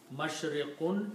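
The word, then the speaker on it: مشرق: If we stop, we pronounce them mashriq, maghrib.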